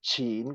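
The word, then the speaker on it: Qin: Okay uh for example if you see q e i n which is team or second tone chin which is the principality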